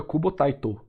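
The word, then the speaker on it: Tite Kubo: porque eu sab que a pronúncia do nome do cubo É cubo taito tá o tit é foi a forma americana de escrever o nome dele mas você vê ele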